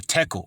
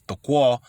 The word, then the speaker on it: tekel: They received the message, a tekel, or tequal. The real way you pronounce it is tequal, which means to find deficient or wanting, which is lacking.